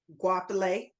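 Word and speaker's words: Goapele: Is it Wapale or Gopele? Guapale.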